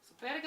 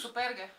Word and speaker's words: superge: Tako, evo, zdaj si bom jaz superge obulam. How do you say tennis? Tennis shoes? Superge.